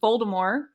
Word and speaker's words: Voldemort: i was thinking about voldemort i think i say it with a t but a very very soft t it's not a silent t but it's like okay